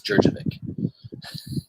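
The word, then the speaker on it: Djurdjević: It's Jurjevic. I always pronounce that.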